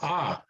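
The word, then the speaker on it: ㅏ: first vowel right and it's pronounced like a so ah ah so all right so or ha ha ha kind of like you know if it were h a in english that's probably how you would pronounce it right okay well good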